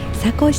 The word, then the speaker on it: 坂越: 坂に越えると書いて佐古市と読みます。